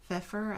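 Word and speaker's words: Pfeffer: pills and a dentist Fritz feffer I think is how you say that so it's worth taking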